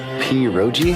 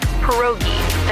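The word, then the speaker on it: pierogi: Periro. Did I pronounce that right? It's pronounced perogi.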